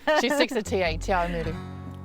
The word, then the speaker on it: Te Awamutu: How do we pronounce that? Te Awamatu. I never get it right. She sticks to TA, Te Awamutu. Te Awamutu. Very good. Te Awamutu.